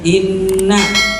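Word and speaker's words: إنّ: ini Inna sama dengan Inna ini namanya ngarahnya tasdid nak kaknya harus ditekan dan dibacanya panjang B setiap bacaan jadi kita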